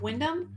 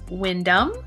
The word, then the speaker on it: Windham: Today I'm going to take you on a driving tour of Windham, or is it Windham?